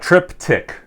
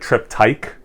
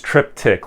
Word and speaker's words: Triptych: So it's Triptych, which I would probably, if I just looked at this, be like Triptych, but it's Triptych, like TikTok, Triptych.